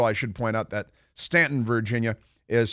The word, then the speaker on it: Staunton: And Stanton River High School, I should point out that Stanton, Virginia, is spelled Staunton, Staunton, but it is pronounced Stanton.